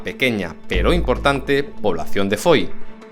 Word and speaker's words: Foy: pero importante población de Foy, o mejor pronunciado, Foix.